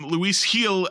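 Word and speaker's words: Luis Gil: train on the mound Luis heel actually is how it's pronounced I discovered while listening to the post game last night Luis heel is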